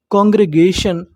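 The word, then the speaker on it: congregation: टी आई ओ एन टी आई ओ एन को हमें पढ़ना होता है शन क्या पढ़ना होता है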